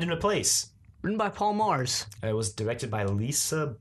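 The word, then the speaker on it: Magrs: is like yeah Paul Mars thanks for writing such a great story it's like oh so it's pronounced like Mars like Mar got it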